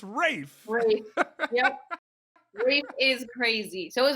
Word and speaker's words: Rafe: brave raphael you could say his name it's rafe reef is crazy so is my dad crazy